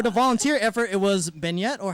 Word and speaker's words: beignet: for the volunteer effort, it was beignet, or how do you pronounce it? Beignets.